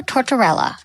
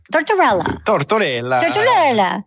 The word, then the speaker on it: Tortorella: I have Nico Tororella. Tortorella. That's how you say it, right?